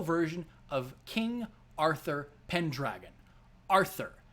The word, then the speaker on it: Arthur: of king arthur pendragon arthur not asa pendragon not pen dragon prior to fake grand